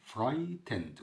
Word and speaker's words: frightened: اول حاجة الكلمات بتاعتنا خائف او خايف، يعني frightened، قلنا جي اتش لو جت قبل بعد الاي او قبل التي ما بتنطقش، هي هنا جاية بين الاي والتي فكده كده مش هتنطق، يعني frightened جاية من frighten يعني يخيف، frightened يعني خايف.